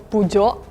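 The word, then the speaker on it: Peugeot: this car either, but copying French it would be like pujo. Reading it would be like pogot. In Korea, we say p. In Switzerland, I thought we say hot, but I think we just pronounce it like the French people. In Spain, we say what? I really like the Spanish one. It's like really exotic. Like true French, you should not like read as you see.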